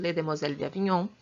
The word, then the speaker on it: Les Demoiselles d'Avignon: fala que eu esqueci escreve desse jeito se pronuncia desse jeito les demoiselles d'avignon e bom e esse